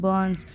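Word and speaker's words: burns: बर्न्स my skin और यहां पर भी आर साइलेंट होता है इसे पढ़ते हैं बनस यदि कोई बंस यानी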